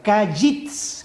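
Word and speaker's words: קיץ: en hebreo es gays se pronuncia cayitz con ts final ahí no está usando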